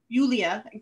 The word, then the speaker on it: Julia: tonight with uh julia julia i always want to pronounce the jay but i know that it's not uh who's a laurel